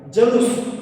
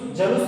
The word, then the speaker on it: जुलूस: जलूस, जलूस नहीं होता शब्द दोस्तों, जलूस नहीं होता है, शब्द होता है जुलूस।